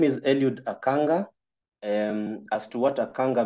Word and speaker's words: Eliud Akanga: again repeat my name so that I can pronounce it the way it should um so my name is elud aanga um as to what aanga means um research